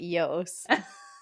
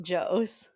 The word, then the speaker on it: Jos: responsible for the leaks proud of you for pronouncing it Yos and not Joe well sometimes I hear people say Joe and